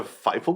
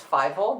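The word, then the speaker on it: Fievel: makes you think a fightful goes well i think it does it's fibo not fightful you said the same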